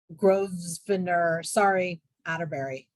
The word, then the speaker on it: Grosvenor Atterbury: complementary landscape designed by renowned New York architect Grosvenor, Atterbury. Karen, if you know how to pronounce it, then you can.